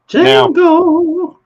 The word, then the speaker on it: Django: Django. As he say, it's DJANGO, and the D is silent.